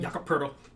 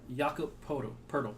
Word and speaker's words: Jakob Poeltl: Everyone that watches this knows the Spurs traded Kawhi Leonard and Danny Green to the Toronto Raptors for DeMar DeRozan and Jakob Poeltl.